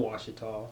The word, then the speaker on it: Ouachita: because we have washita wichita right like it's pronounced oh washita then we have ouachita wichita and i don't know what else yeah